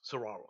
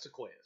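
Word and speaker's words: Saguaro: Saro you talk about Saro Cactus yeah yes Saro that's how it's pronounced that's not Seas seas are a tree yeah I wasn't sure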